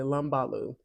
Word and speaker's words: Lumbalú: And so upon researching it, this tradition is called uh, Lambulo, Lambula, Lumbalú, Lumbalú, Lumbalú. I want to make sure I say it correctly, Lumbalú.